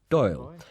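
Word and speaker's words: Dáil: two parliaments in ireland the dublin parliament is called the doyle pronounced doyle an irish word will you stop talking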